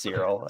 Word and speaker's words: Cyril: When you say his name, it sounds like Cereal Boy, and I thought that's what you were calling him because he was always eating cereal. No, it's just Cyril.